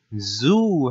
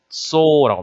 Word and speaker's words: Zoo: zoo 하고 읽게 될 텐데 그렇지 않습니다. 독일어는 so라고 합니다. so 모음이 두 개 붙어 있으면 앞에 있는 모음을 길게 발음하죠.